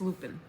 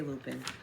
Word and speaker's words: Lupine: of sprouting Lupin huh Lupin or Lupine we are from Maine and Lupin it's lopin that's how we say it right yes they're ditch flowers basically but they're gorgeous dad love lopin I I thought about we say loopin I'm curious now hold